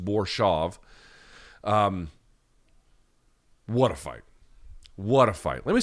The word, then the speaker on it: Borshchev: They pronounced it Borshchev. It looks like it's pronounced Borshchev, but I guess it's just Borshchev.